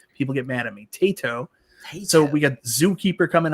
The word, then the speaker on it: Taito: Taito.